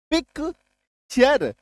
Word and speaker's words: picture: PICTURE, टी के बाद URE, पिक्चर, च, है ना।